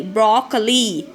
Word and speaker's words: broccoli: today i'm going to tell you the correct pronunciation bro cor lee broccoli got it children so you hear you should